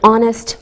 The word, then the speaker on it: honest: Same with an honest man. We don't pronounce the H.